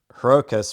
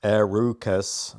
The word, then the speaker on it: Herucus: Herokus, pronounced Arukus.